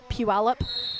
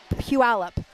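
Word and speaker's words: Puyallup: They're not I was born in a town called Puallup, Washington. Oh jeez. And do you know how many And it's spelled P U Y A L L U P. Puallup.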